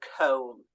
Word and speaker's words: comb: they are always silent so the silent B so examples Crum lamb also comb there is a b at the end but we never hear it so that again they're